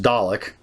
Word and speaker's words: Dalek: I'm saying that because it's pronounced Dalek, and they just changed the D to a K, so I'm saying colic instead of Kalic.